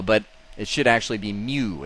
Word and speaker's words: mu: written as mua but it should actually be Mew it's pronounced Mew like a cat let's all say